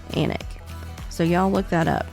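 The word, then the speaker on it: Alnwick: I'm going to spell anic for you because it is not spelled the same way we pronounce it or they pronounce it in England um it is spelled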